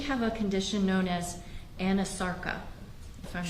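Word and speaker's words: anasarca: examiner, did she have a condition known as Anasarka? If I'm not mispronouncing it. No, you're pronouncing correctly. She did have a condition called Anasarka.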